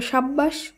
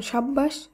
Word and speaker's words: সাব্বাস: একইভাবে সাব্বাস, এর উচ্চারণ সাব্বাস।